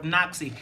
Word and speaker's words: NOCSAE: He is the executive director of NOXI. And if you go look for NOXI's website, it's spelled NOCSAE, NOCSAE.